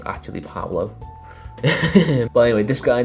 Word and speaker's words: Pablo: to see for yourself and number one is Paulo the baller I hope always pronounced his name is Pablo dibala as only today one of them the research for this video that realized there's names actually Pablo by the way this guy needs no introduction